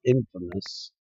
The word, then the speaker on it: infamous: Well, that's how it's spelled, but it's not how it's pronounced. It's pronounced infamous.